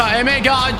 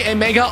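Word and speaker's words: Emegha: Is it actually Emega or is it Emecha? Because in Dutch, you pronounce the G as most of the time. So I guess it might be Emecha.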